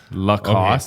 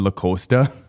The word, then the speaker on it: Lacost: What's the correct way to say your last name? Lost. Lacost. Cuz we butchered the out of that. The Yeah, we gave you a shout out a while ago and I think we said L Costa.